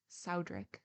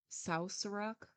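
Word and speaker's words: Southwark: as 1666 had proved South workor was then pronounced Saud it is now pronounced saurok or near it indeed an excellent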